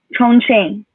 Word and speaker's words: Chongqing: Is that how we uh, pronounce? Chongqing.